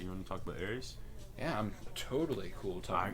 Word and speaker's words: ERYS: Yeah, no, because he pronounces it ERYS. Oh, he does? Yeah. Okay, ERYS it is.